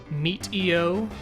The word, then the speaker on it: Meteo: Medio. Wait, another pronunciation thing. Is it Medio or Medio? Because I'm thinking like Meteor, Medio. Your thoughts? Meat-EO. Yep, people are saying Medio.